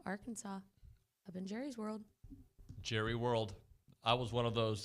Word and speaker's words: Jerry World: It is Jerry World. Jerry's. No, it's Jerry World. I think the correct pronunciation is Jerry's. But it is actually trademarked as Jerry World. Oh. Like Disney World. It's not Disney's World.